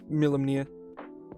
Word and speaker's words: Milimnir: It's about as difficult to pronounce as it looks. It's Milimnir.